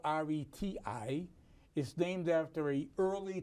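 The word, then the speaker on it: Réti: So far, it's called the Ready opening at this point. Right. The Ready, which is spelled R-E-T-I, is named after an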